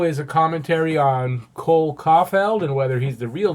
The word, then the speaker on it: Caufield: So Cole Caufield, it's actually pronounced Caufield.